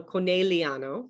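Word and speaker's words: Conegliano: better than i do so the gli is pronounced as a like a yi like a y-e-e in italian so connelliano right and then a double consonant you always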